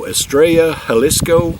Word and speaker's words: Estrella Jalisco: how you proun it I believe in Spanish the double L's are are pronounced as a y and the J's are pronounced as an H I believe so estraya halisco maybe that's how you